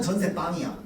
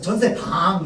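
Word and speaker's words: 전셋방: 근데 전세 빵은 전세 빵이야. 근데 이렇게 표기한다고 해서 전세 방 이렇게 발음하면 돼요, 안 돼요? 안 돼요. 사이소리 현상이 일어나서 전세 빵으로 발음해야 돼요.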